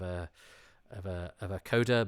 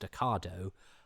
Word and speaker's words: Ocado: A coda is how my other half pronounced Ocado until we got together.